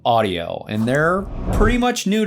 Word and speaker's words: Audiio: while, but this new system, Audio, which is spelled AUDIIO, they reached out to me.